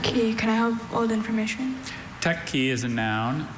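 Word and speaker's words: teke: Mehmed med toured a historic techi and saw the rooms for prayer, study, dining, and sleeping. Techi, the pronunciation does differentiate between those two consonants.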